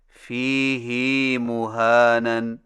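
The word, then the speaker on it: فِيهِ مُهَانًا: Number 9، فیہ مہانن میں فیہ کی ہا کو کچھ کھینچ کر پڑھیں، یعنی اس طرح فیہ مہانن. ہماری قراءت روایت حفص میں اسے فیہ ہدن کی طرح فیہ مہانن پڑھنا صحیح نہیں. صحیح تلفظ کے ساتھ ادا کیجئے.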